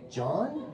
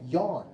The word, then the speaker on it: Jan: I'm like, John? He's like, no, Jan.